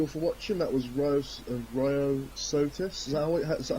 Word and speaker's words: Ryosotis: That was Ryosotis.